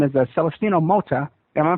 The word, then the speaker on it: Celestino Mota: and he's from Mexico and his name is Celestino Mo. Am I pronouncing that right?